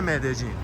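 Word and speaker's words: Medellín: بار میگی مد جین کلا این دو تا توی زبون اسپانیایی وقتی میذارن این ل خونده نمیشه ی خونده میشه ولی همین ی تو یه سری از کشورا ج تلفظش میکنن یه سری جاها ژ تلفظش میکنن و آرژانتینی‌ها از همه بدتر ش تلفظش میکنن خود کلمبیایی یه چیزی بین ژ و ج میگن واسه همین وقتی میای کلمبیا باید بگی مد جین یا مد جین k یکی مغازه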